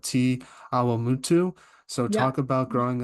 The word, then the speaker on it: Te Awamutu: I've been trying to get the pronunciation right as long as I could, but you're from a town called Te Awamutu.